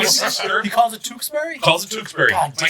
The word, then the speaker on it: Tewksbury: How do you pronounce the city that you are from? Tewksbury.